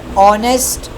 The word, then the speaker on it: honest: here we have over honest air so these h sounds these h words or the h alphabets we are not pronouncing in these words that's why I have included them in vowel sounds.